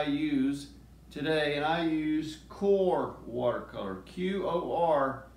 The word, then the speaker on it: QoR: today and I use Coar watercolor qo are it's pronounced core a core watercolor is